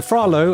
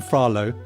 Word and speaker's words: Phra Lo: I've seen it spelled L-A-W and L-O, so some Lo kind of pronunciation. Okay. So Phra Lo, I'm going to call him Phra Lo, and I'm going to